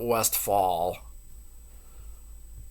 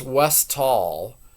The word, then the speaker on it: Westall: of the hold on oh I did get the name wrong it's West West W tall not West Fall I'll go ahead and change that on my video it's West tall um the westall UFO